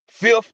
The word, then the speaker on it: FTH: Fifth. That's how you say it.